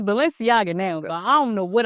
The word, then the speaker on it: Balenciaga: highend brands that everybody like when you cannot pronounce it like when I first seen Balenciaga listen how you say it it's it's Balenciaga now I don't know what I was saying